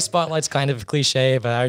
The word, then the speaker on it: SPTLGHT: And then the last thing is going to be Spotlight Entertainment. So Spotlight's actually spelt with no vowels.